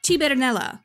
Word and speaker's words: Cybernella: In the 1981 Italian dub, Limit became Cybernella, pronounced Cibernella in Italian.